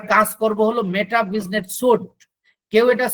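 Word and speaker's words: Suite: করব হলো মেটা business সুট কেউ এটা সুইট বলে কিন্তু এটা কে উচ্চারণ সঠিক উচ্চারণ হলো সুট মেটা বিজনেট সুট আমি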